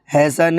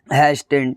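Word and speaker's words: hasten: हैसन है ना कि हैस्टिन। ठीक है? क्योंकि एस के बाद टी आ रहा है इसलिए टी यहां पे साइलेंट है।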